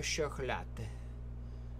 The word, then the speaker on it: chocolat: Pain au chocolat. I always put that extra syllable. Chocolat. Ducks are violent creatures.